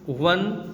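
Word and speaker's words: one: इसके अलावा आप यहाँ पर ये पढ़ सकते हैं, we pronounce O इन वन एज डब्लू और वी इन वन एंड the word वन gives consonant sound, so वी यूज़ ए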